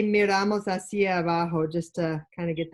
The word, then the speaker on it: hacia abajo: We could also say miramos hacia abajo just to kind of get that direction cue in. Look Be forward. careful with your pronunciation there. Miramos hacia abajo. Yeah. Hacia abajo. No, hacia abajo.